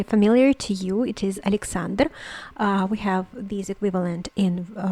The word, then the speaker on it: Alexander: as alexander alexander and the stress is on the second syllable the second a sorry the third symbol uh syllable a and uh what are